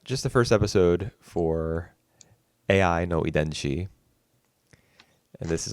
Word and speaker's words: Ai: how you say it you don't say I like the word like the Japanese word for love right it's a i it's AI yeah I figured I didn't